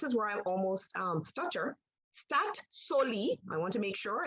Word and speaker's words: Statoil: In today's Suriname's presentation, we'll have it more about Statoil, and you did pronounce it correctly, Alison, so no problem about that.